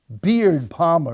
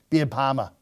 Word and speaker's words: Beard Palmer: his neighbors were shocked beard Palmer as many called him which I have trouble saying because I say it like a Yankee I should say be a Palma instead of beard Palmer as many called him